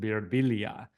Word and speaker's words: Birbiglia: and I almost have changed the pronunciation in my life to beila because I it's in good conscience you can't go to Rome and hear this beautiful language and then look at this hard G and go bbia there's